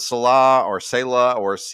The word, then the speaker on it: Saleh: Robert Saleh, I think it's Saleh is how you say that.